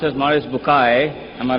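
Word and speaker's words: Maurice Bucaille: and a scholar of Quran Dr moris buk pronounced as moris bukai am I right Dr matter okay uh he's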